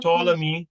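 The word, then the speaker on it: Ptolemy: So when Simon and his sons had drunk larely largely the Tommy and Tommy is just to me you don't pronounce the P.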